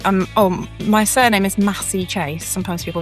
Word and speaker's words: Massey-Chase: So, it's Massie Chase. Um, how do how do they pronounce it? Sometimes people say Chase, but it's it's definitely Massie.